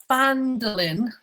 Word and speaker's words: Phandelver: I'm on my way to Phandelver. Yes, is that correct? Pronunciation's bang on.